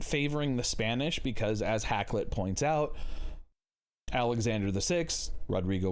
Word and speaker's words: Hakluyt: and what he's saying hacklet or hack loot as i guess it's pronounced is that you know